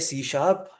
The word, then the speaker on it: C#: इसको प्रोनाउंस क्या किया जाता है? C शार्प।